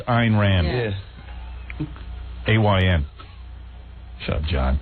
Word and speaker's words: Ayn Rand: Or Ian Rand, something like that. Ayn Rand. Ayn Rand. Or whatever. No, you said it right. It's Ayn Rand.